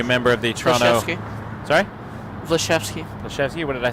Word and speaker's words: Vlasevski: Aleksandar Vlasevski was a member of the Toronto... Sorry? Vlasevski. Vlasevski? What did I say? You said it wrong. Said it wrong. Vlasevski. Better.